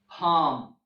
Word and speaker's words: calm: letter L in English there are some monosyllabic words that end with LP LF and L M that have silent L for example walk talk cough how calm and calm well all these words have a silent L okay and then there